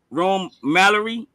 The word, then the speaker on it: Rome Mallory: Am I pronouncing your name right? Rome Mallory.